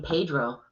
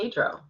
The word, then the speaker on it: Pedro: Well, I get lazy and say Pedro instead Wow. of rolling the R. That sounded like you Hispanic. Pedro? Yeah. No, No, not that. no, Pedro. Yeah. Some kid Paydro. Pedro. That's not how you say it.